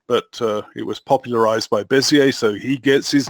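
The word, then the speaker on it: Bézier: Bezier? Bezier.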